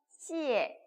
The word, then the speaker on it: 谢: 그러면 시옷 발음이 나는구나 라고 기억을 하시고 네, IE 어떻게 읽어요? 이에라고 있습니다. 이거 이어 아니에요. 아셨죠? 이어 아니에요. 이에예요. 이에. 그죠? 어떻게 읽었어요? 시에. 그죠? 시에 이렇게 읽는다고 합니다. 그래서 여러분께서 이거 읽으면서 시에가 감사합니다 라는 표현을 지금